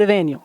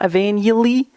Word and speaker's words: Evaniel: You say it Evaniel, not Evangeli or Evaniel. It's Evaniel. Like you took Evan and Daniel and combined them.